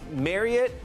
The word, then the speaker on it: Marriott: It's the same way with Marriott. It is not Elliot. Marriott. It is Elliot. Marriott. And so the correct way to say it is actually Marriott. Okay. I don't know if you could hear it there, but it's Marriott like Elliot.